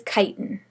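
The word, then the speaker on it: chitin: the exoskeleton of insects that one is kiten kiten c hii t i n pronounced kiten all right so the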